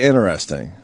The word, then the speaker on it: interesting: Because I don't pronounce the T in interesting.